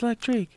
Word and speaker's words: Lektrique: should have told you my name's electric like trick electric oh yeah did